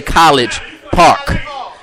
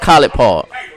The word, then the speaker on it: College Park: If you're not from the Atlanta, y'all sit there and y'all read the sign and say College Park. But it's pronounced Collie Park.